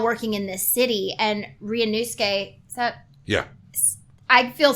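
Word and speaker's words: Ryūnosuke: The vowel in the latter half is silent in a Japanese, in a lot of Japanese names.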